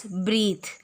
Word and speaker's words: breathe: Breathe, we can pronounce it as breathe.